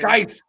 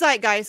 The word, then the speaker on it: Zeitgeist: Zeitgeist. What's that? No, I'm saying it wrong too. Yeah, it's Zeitgeist. No, it's Peter Joseph.